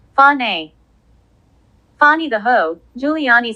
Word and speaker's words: Fani: Her name is pronounced Fani.